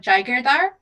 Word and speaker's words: Jaigirdar: So my name is pronounced Adiba JAIGIRDAR.